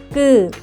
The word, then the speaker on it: 끄: When pronouncing, 끄, pronounce 그, while tensing your throat. 끄, 끄, 끄.